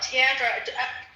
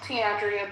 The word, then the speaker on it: Tandrea: Tandra. So, do I say your name right? Am I saying it wrong? I feel like I'm mispronouncing your name. Um, Tandrea, but you can call me, too.